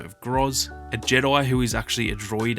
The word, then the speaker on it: J-3D1: There's then a Wookiee by the name of Groz, a Jedi who is actually a droid, and his name is literally just Jedi but spelled like J-3D1, like a typical droid name, which I thought was pretty funny.